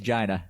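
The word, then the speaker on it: Geena: It's pronounced Gina.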